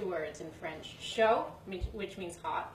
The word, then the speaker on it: chaud: Chaud, which means hot. It's spelled D. C-H-A-U-D. But I didn't know you don't pronounce that.